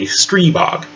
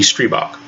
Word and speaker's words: Stribog: countries including the slovakia when they give i its full voice it comes out as an e sound so over there they would say stree bog so which is it